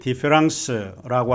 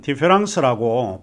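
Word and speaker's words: différance: 디페랑스와 디퍼런스, 프랑스 말로 디페랑스는 똑같이 디페랑스라고 발음을 하고 있습니다.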